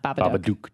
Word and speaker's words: Babadook: I heard you guys talking about the Babadook, and I'm looking forward to that. But I think, did I pronounce it correctly? Yes, you did. Babadook.